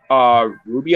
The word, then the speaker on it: RWBY: Yes, it's RWBY, which spells Ruby, but there's also like Team Orange or something like.